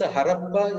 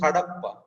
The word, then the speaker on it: Hadappa: Besides, Harappa is the European spelling and pronunciation. The actual place name is Hadappa, and that's how it is still written in Hindi. There are no retroflex letters in European languages. So, Da becomes Ra.